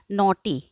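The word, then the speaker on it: naughty: है नॉटी मीस शरारती यहां पर देखो जी जो है वह क्या है साइलेंट रहेगा ठीक नॉटी जी और एच जो है वह क्या है साइलेंट है बॉय बॉय मतलब लड़का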